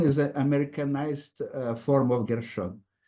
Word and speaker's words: Gershon: Gerson is an Americanized form of Gershon. Not necessary. Because in Greek, there is no sh sound. So totally naturally, for Greek-speaking Jews, Gershon was starting to be pronounced Gerson, and also in many